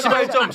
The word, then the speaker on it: 시발점: 발음 조심하세요. 시발점. 왜? 세게 발음을 하세요.